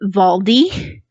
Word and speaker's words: Waldi: really messed up because the girl's German and she pronounces it valdi and I was like